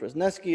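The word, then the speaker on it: Wrzesniewski: paragraph in text three amy reznesky pronounced rosneski a professor a business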